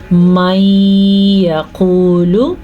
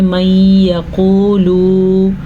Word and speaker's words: مَن يَقُولُ: لام کو لمبا نہیں کرنا. اکثر لوگوں کو میں دیکھتی ہوں وہ پڑھتے ہیں من یقولو، یہ واحد کا صیغہ ہے تو وہ جمع کا صیغہ بن جاتا ہے.